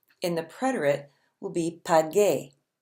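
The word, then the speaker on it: pagué: will be pod gay we have to slip that little you in there to keep the G sound good otherwise it would look like it should be pronounced paje which is not at all what we're saying PAH gay bi got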